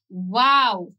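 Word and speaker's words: واو: ওয়াও, ওয়াও শব্দটা প্রথমে আমাদের ঠোঁটটা ছোট থাকবে, সেই ঠোঁটটা গোল থাকবে, গোল থেকে তারপরে ছড়ায়া যাবে ওয়া আ কইরা, তারপরে আবার একই জায়গায় আইসা বন্ধ হবে ওয়াও।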